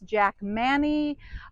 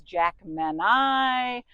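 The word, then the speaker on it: Jackmanii: And I've always called my clemetus Jack Manny. I just heard another gardener the other day refer to this beauty as Jack Manai.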